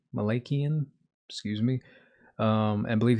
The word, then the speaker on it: Malakian: pronunciation of last name I believe it's pronounced Malakian Malakian excuse me um I